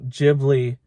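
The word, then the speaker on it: Ghibli: it did what a gibli jibli or gibli is it well I mean in in Japanese it's a jiy JY Studio jibli Movie should which is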